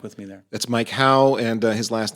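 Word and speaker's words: Haugh: That's Mike How and his last name is pronounced or is spelled H A U G H.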